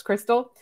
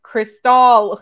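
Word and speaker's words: Cristall: I keep mispronouncing him as Crystal, just like yours is Matevi. It's Matvey. It's Cristal. I keep yelling at myself.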